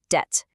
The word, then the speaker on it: debt: And deplet, just debt.